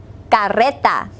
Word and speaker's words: carreta: second word is cart be sure to roll your R listen La Carreta repeat after me La